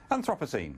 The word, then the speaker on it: Anthropocene: vote on the Anthropocene epoch how do we pronounce it professor Anthropocene Anthropocene okay so Rebecca God got it right